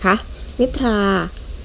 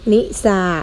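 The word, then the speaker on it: นิทรา: ทหาร กับ หรอ เรือ บาง คำ ไม่ ได้ ออก เสียง ซอ โซ่ เสมอ ไป เช่น คำ ว่า จันทรา อินทรา และ นิทา นะ คะ นิททา อินทรา จันทรา นะ คะ 3 คัน นี้ เรา ไม่ ออก เสียง ว่า จันทร์ทรา อิน ทรา หรือ นิซา นะ คะ ออก เป็น ทา นะ ค่ะ 3 คำ นี้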